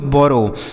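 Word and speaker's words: borrow: Next word है बी O double R ओ डब्ल्यू इसे पढ़ा जाता है दोस्तों बोरो।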